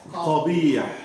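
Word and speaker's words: قبيح: No, not Kha. It is Qa. Qabih.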